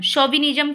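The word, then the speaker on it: chauvinism: अब देखिए ये वर्ड इसमें सी एच इसकी लिखा गया है लेकिन इसका प्रोनाउंसिएशन सो पढ़ा जाता है।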